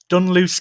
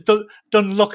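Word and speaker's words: Dunluce: So, I'm going to try and say correctly this time. Dunloose Castle. Dunloose Castle. Yes. Yay. I said it right. Yay. I think it was Dunlook earlier. Dunlook.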